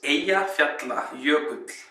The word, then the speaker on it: Eyjafjallajökull: So actually this is the name of the volcano pronounced correctly. So here it goes. It's Eyjafjallajökull. That's Eyjafjallajökull.